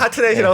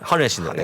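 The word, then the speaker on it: Hartnett: 아니, 우리나라에서는 하트넷이라고 쓰시던데, 그렇죠. 네, 정통 발음을 하넷. 하넷인데.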